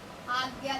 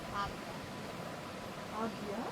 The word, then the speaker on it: Ajna: Then is our third eye, Agya chakra. So it's written A-G-J-N-A but pronounced as Agya. Agya chakra.